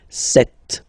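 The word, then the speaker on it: sept: Then here, remember, P is not pronounced. Okay, it doesn't exist, so you got this set sound.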